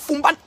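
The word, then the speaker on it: Foumban: Je prononce Fumban 1 million.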